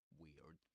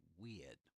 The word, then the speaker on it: weird: Weird. In British English, you might say something like, you might hear something like weird. That's weird. Rather than weird. Without, without pronouncing the r.